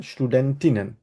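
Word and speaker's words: Studentinnen: করতে হবে স্টুডেন্টিনেন বলব আমরা কি বলব ভাইয়া স্টুডেন্টিনেন ঠিক আছে স্টুডেন্টিনেন আর এটাকে আমরা বলি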